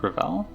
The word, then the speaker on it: Ravel: It's Ravel. I thought I was going to be mispronouncing your name, but I was very excited there to see how it's pronounced.